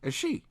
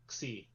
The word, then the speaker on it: Xi: the next one is she. Oh no, it's pronounced Xi.